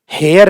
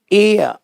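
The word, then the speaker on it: heir: हवर नहीं, अव, एन अव, हेयर नहीं, एयर, एयरस, एयर, जो हवा का उच्चारण होता है एयर का वैसा होता है इसका उच्चारण है एयर।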